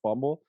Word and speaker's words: pHumble: this thing was man p humble is is how it's spelled but it's pronounced fumble but the h is